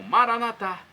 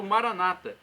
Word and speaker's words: Maranata: E agora, do aramaico para o português, eu clamo Maranatá, como dizemos nós católicos, ou Maranata, como dizem nossos irmãos separados, os evangélicos ou protestantes. Não importa a pronúncia, o significado é o mesmo.